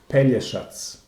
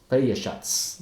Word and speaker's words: Pelješac: you guys can see, is very tricky for somebody from English-speaking countries, for example, or pretty much any other except for Slavic countries, to realize that the pronunciation should be Pelješac. Pelješac.